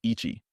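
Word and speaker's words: いち: exactly mirror Chinese pronunciations this kanji number one is typically read as Ichi however this pronunciation can alter when paired with different words for example when combined with the hiragana TSU it transforms into hitotsu signifying one piece this reading is used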